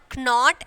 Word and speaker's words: knot: Not. Not knot, not. So K is silent.